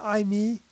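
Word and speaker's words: εἰμί: thing as iy isn't that interesting that it's I me in the Greek that's the way it's pronounced e i m i i me and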